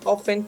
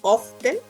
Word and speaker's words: often: frequency would be often you can pronounce often too often M the both are correct mm yes I say